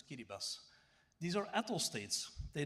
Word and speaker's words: Kiribati: Everything that is yellow is what I have now documented and especially Marshall Islands Kiribas Tuvalu they name this Kiribati but they pronounce it as Kiribas these are atal states